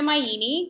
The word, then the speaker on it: Maini: I'm Gina Maini. My last name rhymes with linguini, so easy to remember that.